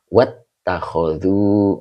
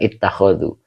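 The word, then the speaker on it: وَاتَّخَذُوا: Ittakhodu kalau disambung, wattakhodu. Oh, bukan ittakhodu. Wattakhodu. Jadi, ini bukan fi'il amar, tetapi fi'il madi.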